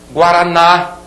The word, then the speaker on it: Guaraná: Guaraná, aqui a sílaba tônica sublinhada, é oxítona terminada em A.